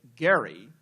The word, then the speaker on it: Gerry: particular partisan gerrymandering, and gerrymandering apparently is a mispronunciation. because, of course, it is named after Elbridge, as he would say, Gerry, an important Massachusetts politician